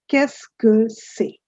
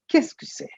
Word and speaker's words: qu'est-ce que c'est: The pronunciation is comparatively simpler. It's qu'est-ce que c'est? Qu'est-ce que c'est?